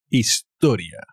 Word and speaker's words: historia: en cuidado story historia con la h que no se pronuncia historia el house pitbull hospital